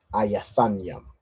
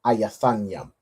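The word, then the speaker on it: איתנים: And how would you pronounce the 7th month is Ethanim in English? How would you pronounce that in Hebrew? Ayathanyam. Well done. All right. So the 7th month, Qadash Shabayaya, is pronounced as Ayathanyam in Hebrew.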